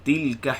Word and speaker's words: تلك: Tilka hududullah. Tilka. Tu cara baca dia. Tilka. Jangan baca tilka, tilka. Tilka.